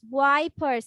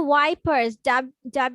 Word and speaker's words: wipers: এখানে ওয়াইপার্স, WI, এটাকে তোমরা এভাবে উচ্চারণ করবা, আমরা যে ইংলিশে ওয়াইটাকে উচ্চারণ করি না সেভাবে, ওয়াইপার্স, ওয়াইপার্স, ওয়াইপার্স।